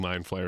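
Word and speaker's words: Mind Flayer: about this in the previous video I wasn't mispronouncing mine flare it's the ulate named mod so if you're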